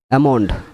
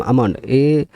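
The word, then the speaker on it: almond: এ calf মানে বাছর আমন্ড আমন্ড মানে বাদাম আমন্ড এল এমও এনডি আমন্ড এলটা সাইলে এখানে দেখবে উচ্চারণ আমন্ড এখানে এল উচ্চারণ হচ্ছেই না তার মানে এগুলো সব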